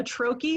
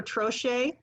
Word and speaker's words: troche: Then we have something called a troche or troche, depending on how you pronounce it.